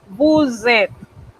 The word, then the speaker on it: vous êtes: Con vous, esa S que yo no pronunciaba cuando el pronombre estaba solito, no la voy a pronunciar, la voy a transformar en una Z. Y vamos a pegar ese verbo a la hora de hablar. Cuando lo escribimos, los escribimos separados. Pero cuando vamos a pronunciarlo, es como si fuese una sola palabra.